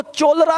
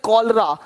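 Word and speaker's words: cholera: अब देखो, चोलरा नहीं पढ़ेंगे, चोलेरा, इसको पढ़ेंगे कॉलरा, कॉलरा हो गया।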